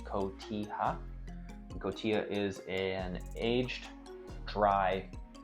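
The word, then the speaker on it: cotija: Kotilla is spelled c o t i j a but pronounced kota.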